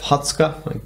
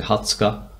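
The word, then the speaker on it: 二十日: I have Hatsuka, another good bit of a revision. It's the 20th day of the month. So notice we've got a bit of a different pronunciation with this guy.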